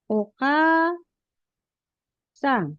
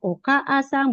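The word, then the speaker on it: お母さん: Ditulisnya oka sang. Dibacanya okasang bukan oka asang. Bukan okasang.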